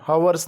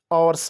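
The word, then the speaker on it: hours: अगर बात करें आवर्स इसको हम हर्स नहीं पढ़ते आवर्स पढ़ते हैं तो आवर्स ठीक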